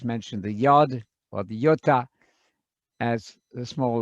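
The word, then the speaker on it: ιῶτα: your mathematics don't you yota that's an e sound and it's a yota the smallest letter like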